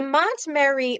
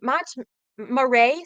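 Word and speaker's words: Montmaray: The Mont Mary Mont Marray. Sorry, I'm saying it wrong.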